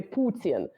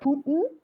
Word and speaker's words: Putin: Oh, well, this is like, I always kind of wonder which pronunciation of, like in Russian, we say Putin, right? We actually emphasize the U, but we also say the in, right?